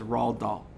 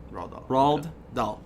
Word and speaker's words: Roald Dahl: lion there was an author his name was Rahl doll and uh huh I spell that rh ra h LD d aho roald dahl okay and Roald Dahl used to write you